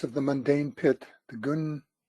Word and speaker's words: Ginnungagap: In the boundless abyss of the mundane pit, the Ginnungagap. It's actually Hinungagap. Of course, why would it be pronounced with a G if it's an H?